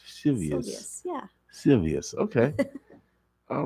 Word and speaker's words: Silvius: Silvius. Okay. Silvius, Okay. yes. All right, like Julius. Silvius.